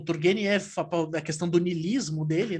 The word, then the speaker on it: Turgenev: Eu não sei se eu estou falando certo, como é que se pronuncia o nome dele? Turgenev. Turgenev.